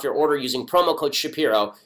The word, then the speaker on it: Shapiro: order using promo code Shapiro that's sha Piro Mac Weldon is spelled